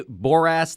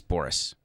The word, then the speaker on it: Boras: it do you do you do you say borass that way deliberately or is that just how it's actually pronounced it's Boris yeah but he bores me he's bored me